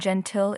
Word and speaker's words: gentil: Nice is translated into French as So the final L in gentil is silent, but in Zanti, the ill adds a soft I sound.